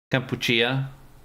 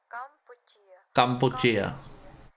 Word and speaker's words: Kampuchea: In Khmer language, Cambodia is Kampuchea. I'm trying. I'm learning. I'm listening. Kampuchea is close enough. There we go. It's like kombucha.